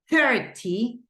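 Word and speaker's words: thirty: And in this case, the stress goes in the teen. But whenever we say 30, the stress goes in the first syllable.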